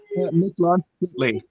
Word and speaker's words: Mictlantecuhtli: Mictlantecuhtli. And my pronunciation is far from perfect.